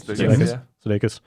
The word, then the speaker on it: Sudeikis: Sudeikis.